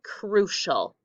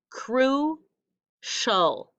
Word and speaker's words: crucial: everybody say crucial good how many syllables crew show very nice i hear the sh in it and i hear the oh at the end that extra special syllable so in that word crucial do you know which one is the sh sound it is crucial that you know it's this one like glacier crucial all right i would